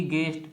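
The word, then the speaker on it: guest: होता है चौकीदार फिर जी यू ई एस टी गेस्ट अतिथि होता है इसमें यू क्या है साइलेंट वर्ड है तो आपने अभी देखा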